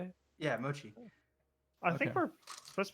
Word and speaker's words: mochi: Yeah, mochi.